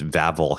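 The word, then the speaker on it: Wawel: The other, you know, major tourist attraction that pretty much everyone is going to hit is Vavl Hill, which is pronounced with V's, but it's spelled D A W.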